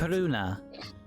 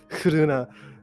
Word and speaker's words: Hruna: Hruna. Hruna. So like Runa, but with like an H in front for reasons.